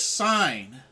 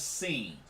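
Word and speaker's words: Cine: go they selected louis sign safety out of georgia so louis sign georgia safety or lewis seen seen i said his name wrong lewis seen then the panthers could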